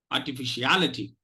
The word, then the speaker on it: artificiality: It will sound very un-English like if you are going to unstress. Let me give you the pronunciation of this without stressing fish. Artificiality. Artificiality. I cannot, of course, because obviously this has a lot of sounds. The syllable has a lot of sounds, so automatically it will take stress.